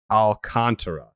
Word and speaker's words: Alcantara: looked up the pronunciation that uh styling of pronunciation that is how it is listed here sandy alcantara exactly okay um okay so he's second